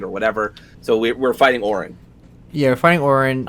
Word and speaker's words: Orin: Odin or Oda? How do you say her name? Orin. Sorry.